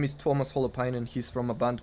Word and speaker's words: Tuomas Holopainen: He's from Finland, so he has a bit of a mouthful Sounds of a like name. jalapenos. I thought, Yeah. I thought he was Mexican too. No, How do you say jalapeno in Mexican? jalapeno. And what's this guy's name? Tuomas Holopainen. It's very close. So yeah, I guess Yeah. it does sound like Fine.